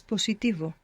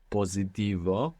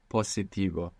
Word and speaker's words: positivo: Good, and you pronounced an S, where most English speakers will probably find themselves pronouncing a Z there, because in English we have positive, so that would probably transfer into Spanish to positivo, and we want to be careful not to do that.